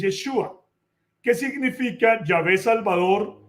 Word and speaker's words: Yeshua: de esta manera, pero en el idioma hebreo, en su forma más larga, Jesús es Yahé Joshua, que en la forma abreviada es Yeshua, que significa Yahvé Salvador o él es el que es es el Salvador.